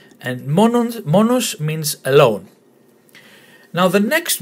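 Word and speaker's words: μόνος: So to pronounce it, monos, monos. The emphasis on the first syllable, monos. And monos means alone.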